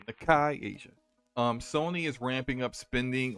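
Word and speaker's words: Nikkei Asia: Shinobi on Twitter and Nakai Asia. I think I said that correctly. Actually, I'm fairly certain I said that correctly, so I looked up the pronunciation. Nakai Asia.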